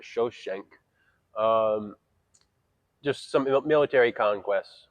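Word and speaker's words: Shoshenq: and it listed uh this is the biblical shishak but they pronounced it shosen um just some military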